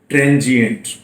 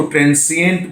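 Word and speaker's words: transient: तो आइए पहला शब्द आपके सामने है ट्रांजिएंट। प्रोनाउंसिएशन में ध्यान दीजिए। कुछ बच्चे इसको ट्रांसिएंट बोल देते हैं। इट्स नॉट ट्रांसिएंट, इट्स ट्रांजिएंट।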